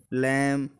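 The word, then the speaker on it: lamb: तो हम ये कह सकते हैं कि देखो, जब भी एम के बाद बी आएगा तो वो साइलेंट रहेगा। कॉम, लैम, टॉम, थम।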